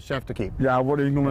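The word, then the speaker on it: chef d'équipe: word for for that that i can't even pronounce can you share that with chef tequila it's called chef to keep yeah what are you gonna attempt that so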